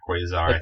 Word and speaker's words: Quasar: First of all, the opening track, Quasar, is that how you pronounce it? Yeah, Quasar.